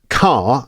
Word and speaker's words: car: In RP, that R at the end of car isn't pronounced. Car, drive a car.